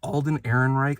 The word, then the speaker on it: Alden Ehrenreich: But we also have, is it Alden Ehrenreich, I believe is how you say his name?